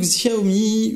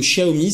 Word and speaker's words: Xiaomi: je vais vous présenter le sjao me où le ch a omis ça dépend comment on le prononce à la française ou à la chinoise le mib en deux